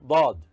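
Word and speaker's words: ض: Then we go to Dad. This is Dad. This is Dad. In Dad, Da sound should be hard, and it also should be pronounced as if the mouth is filled with something.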